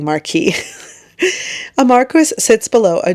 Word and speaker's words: Marquis: I'm not mispronouncing marquee.